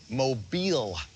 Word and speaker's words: Mobile: Starting in Atlanta and ending up here near I figured out how to pronounce it, Mobile, Alabama.